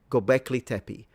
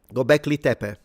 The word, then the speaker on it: Göbekli Tepe: So, Göbekli, not Göbekli. Okay, Göbekli. Göbekli Tepe.